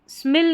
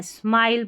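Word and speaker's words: smile: आई एल ई को स्मेल नहीं पढ़ना है। स्माइल पढ़ेंगे।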